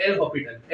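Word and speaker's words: L'Hôpital: Shortcut होता है एल हॉस्पिटल, क्या होता है एल, स्पेलिंग में HOSP है, हॉस्पिटल आता है मेरे को आता है, बट एल हॉस्पिटल, S silent है, मैंने नहीं बनाया, एक्चुअल में ही साइलेंट है, ठीक है।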